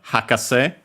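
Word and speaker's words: 博士: it's actually used in the word hakase, which we have seen in accent on the first syllable.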